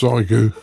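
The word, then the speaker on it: Xiegu: Well, you've been having some fun and I think it's pronounced Zyu cuz I've got a Zyu.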